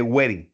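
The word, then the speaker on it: Guérin: Y le colocan nombre, le dicen la válvula de wering o de wering, algún depende dónde se coloca la tilde, pero es de wering, tiene acento en la e.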